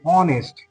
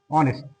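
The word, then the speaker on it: honest: যার জন্য এখানে কিন্তু আমাদের এান বসবে এান তাহলে এান আওয়ার তারপরে আরেকটা দেখে নাও যে অনেস্ট এইচ ও এন ই এস টি অনেস্ট তাহলে এই ক্ষেত্রে কিন্তু এখানেও কিন্তু এান বসবে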